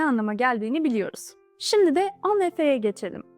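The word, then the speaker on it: en effet: geldiğini biliyor Şimdi de on ve F'ye geçelim bu sefer sondaki t'yi duymuyoruz on ve F şeklinde telaffuz ediliyor on ve F diğerlerine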